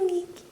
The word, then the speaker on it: Nikki: This is Pachi's cat, Nikki, spelled like Nick because Brazilians like to add the I sound to everything. Hi, Nikki.